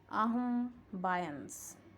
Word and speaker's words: ambience: Ambience is a French word that can also be pronounced ambiance. Ambiance.